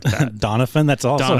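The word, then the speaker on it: Doniphon: Also, why was his name pronounced like that? Donafan.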